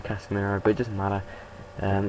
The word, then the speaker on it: Casemiro: good players k casemiro Sorry MGH says casir and now I'm getting to the habit of it it's actually casiro but it doesn't matter